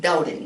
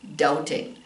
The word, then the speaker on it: doubting: And this is pronounced doubting. There's no B sound. I don't know why it has a B in it at all. But doubting.